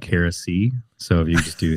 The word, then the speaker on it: Harris III: I mean, if you pronunciate the I's, it sounds like heresy.